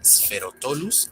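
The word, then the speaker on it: Sphaerotholus: Si dijiste Spherotolus, estás en lo correcto. ¿Notaron la TH? Bueno, en este caso se pronuncia como una T marcada y no como una T suave con aspiración, que es como se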